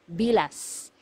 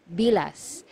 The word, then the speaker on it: bilas: one sister-in-law sister-in-law is bilas bilas so you have to be very careful with this one you have to pronounce the letter S at the end because if you mispronounce